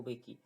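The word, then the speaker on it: Mbeki: थाबो बेकी, यहाँ पे ध्यान रखना कि एम साइलेंट है, थाबो बेकी।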